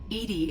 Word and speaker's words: EDI: why are you named edie edie is the phonetic pronunciation of e-d-i that is an acronym